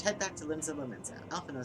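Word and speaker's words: Alphinaud: I keep forgetting, in English is it Alphino or Alphinod? Do they pronounce that last B? And when it gets transliterated from Japanese, basically Alfino. D is silent in English.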